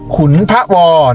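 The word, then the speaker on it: ขุนพะวอ: เยอะ เลย นะ ครับ เขา อ่าน ว่า อุทยาน แห่ง ชาติ ตี ทุน ทวอ อ้า อุทยาน แห่ง ชาติ ขุน พะวอ นั้น เอง นะ ครับ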